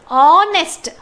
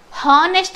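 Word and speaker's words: honest: ಹಿ I appreciate on ಆನೆಸ್ಟ್ ಹಾನೆಸ್ಟ್ ಅಂತ ಹೇಳಲ್ಲ ನಾವು ಹಾನೆಸ್ಟ್ ಅಂತ ಹೇಳಲ್ಲ ಎಚ್ ಬಂದಿದೆ ಅಂತ ಆನೆಸ್ಟ್ ಅಂತ ಉಚ್ಚಾರ ಮಾಡ್ತೀವಿ ಆನೆಸ್ಟ್ ಓಕೆ ಆನೆಸ್ಟ್ ಅಂತ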